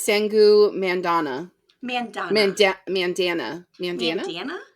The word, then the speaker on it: Mandanna: I think it's sangu Mandana Mandana Manda Mandana Mandana Mandana Mandana it's long vow I think it's Mandana she's Indian so I would assume it's long we have done our